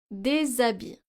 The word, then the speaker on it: des habits: Des habits. Les étudiants. So here we're pronouncing des habits, even though H is a consonant, but this is a silent H, which acts like a vowel.